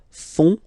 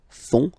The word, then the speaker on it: font: And ils, plural, font, final T not pronounced, font, font, elles font.